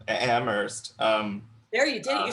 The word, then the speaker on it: Amherst: That's all I'm going to hear anytime that you guys say that, or like if someone pronounces the H in Amherst. See, I'm Amherst.